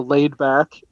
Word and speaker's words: Laydbak: His name it's spelled Laydbak. So Laid Back is his name.